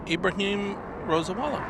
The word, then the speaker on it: Ibrahim Rosawala: that name Ibrahim rosawala Ibrahim Rosa Walla very nice yeah you had it right happy to be part